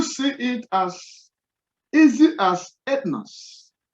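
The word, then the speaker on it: ἔθνος: Now, you see it as easy as ethnos, ethnos.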